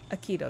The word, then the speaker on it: Akito: Akito, that's how you say his name.